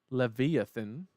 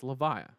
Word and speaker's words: Levia: it is levia okay it's not Leviathan yeah it's levia yeah levia okay okay